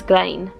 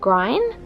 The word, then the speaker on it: Grein: it's it's that grain I think it's graen and so I've actually been saying it wrong because I've been saying grind because it's EI so now I'm really